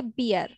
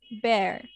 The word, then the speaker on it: bear: taina so bear bear don't say beer it's bear okay the next one